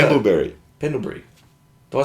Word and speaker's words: Pendlebury: Pendleberry always kills me. Who's that on me or you? I don't know. You say it now. How do you say Pendleberry? Pendlebury.